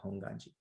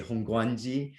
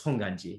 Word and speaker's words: Hongwanji: is supposed to be honganji so yeah don't i've seen sometimes people kind of forcefully say hongwanji but it's it's honganji yeah the w is silent yeah okay are there